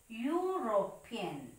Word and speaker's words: European: It's a vowel letter, but you have to pronounce it. How it is? European. European, that sound U is not matching with the letter E. Actually, the sound U is the sound of a consonant letter.